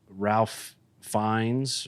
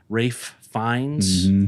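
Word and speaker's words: Ralph Fiennes: Uh cuz I watched Ralph Fines or however you pronounce his name. Rafe. Rafe Fines.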